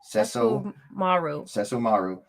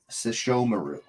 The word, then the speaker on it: Sesshomaru: You put the Say wrong that one more time. emphasis on the wrong syllable. Say that one more time. Okay, hold on. You say it your way. Say it the way you said it. Sesshomaru. It's Sesshomaru. Sesshomaru. There you go.